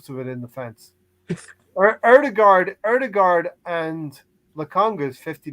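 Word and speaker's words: Ødegaard: in the fence or erdegaard erdegard and the congress 50 million bona gourd say his name right right erdogard you'd have to say martin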